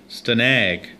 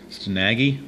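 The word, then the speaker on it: Stanage: Stanag. S-T-A-N-A-G-E. I'm not sure how it's pronounced. Stanag, maybe? Stanaggy. I think it's probably Stanag.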